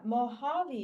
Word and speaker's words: Mojave: while you're writing say moabi yeah Mojave is how you say it it's actually a Spanish wait word yeah like the desert